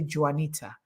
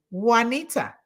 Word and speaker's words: Juanita: You know, I remember to not say Juanita, pronouncing the J. Now I say Juanita.